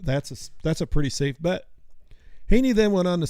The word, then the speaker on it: Haney: Say his name again. Hank Haney. Haney. Haney. Not Heine. Not Haney.